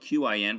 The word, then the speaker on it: Qin: Anyway, so today we're going to be studying work text page 99, which is about the Qin dynasty. The Qin dynasty is spelled Q-I-N, but is pronounced Qin.